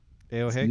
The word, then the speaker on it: ayohae: Is that how you say it? ayohae? Yeah, that's how I usually say it.